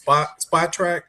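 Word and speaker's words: Spotrac: And what I always recommend, I believe the site is pronounced Spot Track. I believe that's how it's pronounced.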